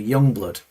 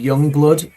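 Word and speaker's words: Yungblud: If you want to, if you YouTube Youngblood, and it's spelled Youngblud, Youngblood Changes from Back to the Beginning.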